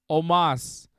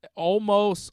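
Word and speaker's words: Omos: pronounce the guy's name it's om oos Omas everybody's pron everybody's pronouncing it correctly is pronouncing it Omas that's how almost almost is wrong and it sounds bad it's clearly Omas MVP is calling him Omas and how hard is it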